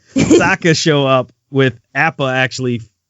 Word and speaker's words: Sokka: Appa and Katara and Sokka, I keep saying it wrong. Sokka show up with Appa actually flying this time, right?